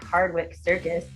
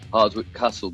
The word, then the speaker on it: Hardwicke Circus: rock news uk and i am here with hardwick circus did i pronounce that right that's right we've had a hardwood castle before and that's definitely incorrect why don't you